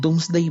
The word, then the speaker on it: Domesday: libro que se llamó el doomsday Book se escribe domesday Book Por si quiere alguien